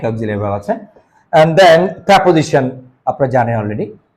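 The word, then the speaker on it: preposition: Intensifier অথবা down toner এছাড়া auxiliary verb এবং প্রেপোজিশন। এটাকে প্রিপোজিশন বলবেন না কেউ, এটা সঠিক উচ্চারণ হচ্ছে প্রেপোজিশন and conjunction অথবা লিঙ্কার্স।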